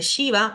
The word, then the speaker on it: Shiva: Esta primera es la S de Shiva o de show, como una SH.